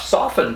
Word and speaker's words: soften: another one f f-t-a-i-s-c-h f-t as in soften and sure enough soften comes from the word soft or you can hear that t but when we say soften we don't say soften i don't anyway villain they